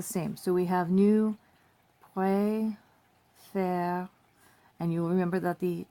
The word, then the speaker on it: préfère: So, je préfère. And you have that accent flip here, which is why this is pronounced préférons and this is préfère.